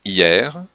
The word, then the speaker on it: hier: Il y a des exceptions comme hier, hiver, fier, et le mot tiers, le S n'est pas prononcé, mais le R oui.